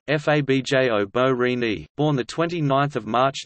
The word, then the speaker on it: Borini: Fabio Borini, Italian pronunciation Fabio Borini, born the 29th of March 1991, is an